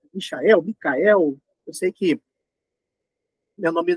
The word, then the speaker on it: Michel: as pessoas é Michael Micael eu sei que meu nome não facilita muito a vida de vocês estão já ajudando meu nome é Michael pronuncia-se Michael n do jeito americano mesmo eu sou brasileiro Apesar